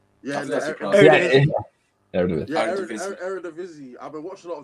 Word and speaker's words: Eredivisie: In the, how do you pronounce it? Eredivisie, right? Yeah, Eredivisie.